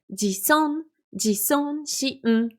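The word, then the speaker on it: 自尊心: Regardez comment on le prononce. Ji-so-shin. Donc quand elle enchaîne dans la chanson, elle dit odoru e jison shin utau e jison shin.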